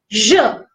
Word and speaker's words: je: Whenever you are pronouncing this, it is je. Je. Whenever you are pronouncing this, it would be j'ai.